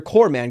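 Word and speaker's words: corpsman: Like the Army Corps, even though they spell it corpse. Um yeah, so you're corman.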